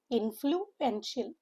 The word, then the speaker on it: influential: Influential. Four syllable word. Stresses on the second syllable.